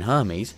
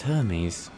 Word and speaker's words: Hermes: "His name is Hermes," Kino said. "Hermes? That's a funny name!" No, it's Hermes! Hermes! Not Hermes! It sounds weird when you say it like that.